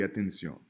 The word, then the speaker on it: atención: Por ejemplo, we have Ricardo, cuarto y atención.